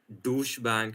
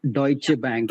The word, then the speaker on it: Deutsche Bank: name it's D Bank deut bank it's a German word deut deut yeah it's